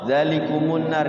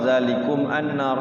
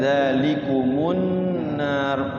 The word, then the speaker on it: ذلكم النار: Kalau diwasal zalikumun nar ini pelajaran gharib ya. Jangan dibaca ketika wasal zalikum annar salah. Jadi bacanya zalikumun nar, mimnya didomahkan karena di sini tuh waqaf ya.